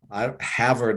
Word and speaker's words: Havard: physician Havard was uh Havard I guess is one way that they pronounce it in England I just pronounce it Havard is kind of the way it seems to read he was the family